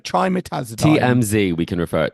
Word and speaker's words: trimetazidine: Trimetazidine. Is that right? Am I saying that right? Not quite right. I mean, Okay. you're almost They there. always have these really Trimetazidine. trimetazidine.